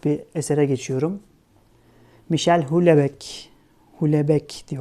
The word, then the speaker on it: Houellebecq: Michel Houellebecq, Houellebecq diye okunuyor sanırım.